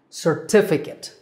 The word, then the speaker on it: certificate: Certificate, with the stress on the second syllable, T. Certificate.